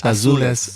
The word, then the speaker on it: Azules: Azules. Azules. Okay. Yeah, that's the way Okay. it's like it's in Spanish.